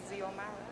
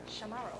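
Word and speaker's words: Xiomara: It's not pronounced Ziomara. Shamara, okay.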